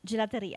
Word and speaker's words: gelateria: your grandparents galaria how do you say that gelateria actually Gia um my mom and dad had